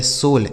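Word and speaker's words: soul: क्यों, क्योंकि इसके बाद यल है, तो यह लिखा गया सोल। इसे साउल नहीं पढ़ेगा, सोल है।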